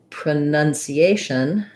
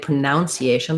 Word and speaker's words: pronunciation: you for pronunciation so just watch out that when you do pronounce you have the ow and the oh you spelling but pronunciation has none so you want to avoid pronunciation but rather pronunciation pronunciation